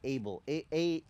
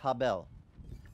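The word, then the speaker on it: הֶבֶל: is, they don't say Abel. Abel is an American translation for you. That's speaking American. But in Hebrew, Abel's name is pronounced Habel.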